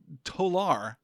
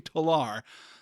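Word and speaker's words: Tolar: the introduction to Avery toar he really like stresses that that terminal syllable on his last name Avery tar and we slip out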